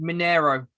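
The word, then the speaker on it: Mineirão: as well it's pretty it's pronounced monero ronaldinho played i wasn't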